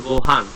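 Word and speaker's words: ご飯: যত জায়গায় লিসেনিং শুনবেন তত জায়গায় দেখবেন যে গোহানটাকে হচ্ছে অনিষ্কার দিয়ে বলতেছে, যে গোহাং, ঠিক আছে, গোহাং।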